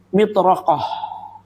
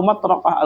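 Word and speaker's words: مطرقة: Ya, di sini dikatakan ya mitraqoh alkabirah atau matraqah alkabirah itu ya bacanya.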